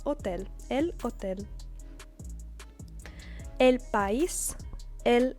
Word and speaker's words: hotel: But it is not pronounced hotel like in English because the H is always silent, and so we have hotel.